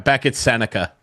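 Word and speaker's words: Beckett Sennecke: And I think it was Beckett Seneke. Is that how you say his name? Beckett Seneca.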